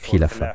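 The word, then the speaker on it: خلافة: C'est un mot arabe qui signifie khilafa. Khalifa est le mot anglais pour khilafa. C'est en fait une mauvaise prononciation de l'arabe.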